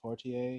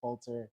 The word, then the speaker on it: Poulter: Jenna Ortega, Paul Rudd, Will Portier. Is that how you say his name? I think it's Poulter. One of us is really wrong. I'm going to be honest, it's probably me. Will Poulter.